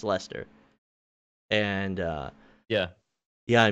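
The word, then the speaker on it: Leicester: i'm saying i went i can't even think it's spelled l-e-i-c-e-s-t-r it's lester and uh yeah yeah i made sure to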